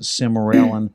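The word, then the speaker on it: Sermorelin: And of course, we've been prescribing Somorlin. Some people pronounce it Semorelin. I say Somorlin.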